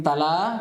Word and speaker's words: تلا: Ini tala, kalau memang panjang dikasih panjang.